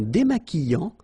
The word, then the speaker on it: démaquillant: So we've got this QU, but then U is not pronounced. So you get the sound qui, okay? And then remember, double L after E will give you the sound y. Démaquillant. Final T not pronounced.